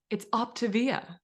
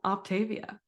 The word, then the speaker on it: Optavia: So it's Optavia, not Optavia.